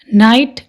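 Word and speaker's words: knight: नाइट, अब देखो नाइट में एन से पहले क्या आ रहा है? के, तो के साइलेंट है, या ये लगा लो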